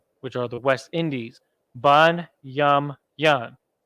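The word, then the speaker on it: בנימין: are the West Indies bun yum yum bun yum yum keep that long tail on the gnaw there Levi law yah the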